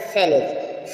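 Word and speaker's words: sledge: देखें आपको लन हो जाएंगे जैसे आपने देखा सेलेज स्लेज स्लेज मीस होता है बर्फ की गाड़ी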